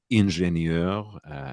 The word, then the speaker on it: Ingenieur: Ingenieur, as it's pronounced in German, or ingénieur is, of course, the word for engineer.